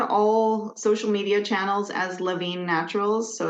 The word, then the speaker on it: Lavigne: We're we're on all social media channels as Lavine Naturals. So, it's spelled the French Canadian way. L A V I G ne.